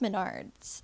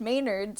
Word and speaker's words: Menards: of nachos but like Menards looks like it could be pronounced Maynards if you no it's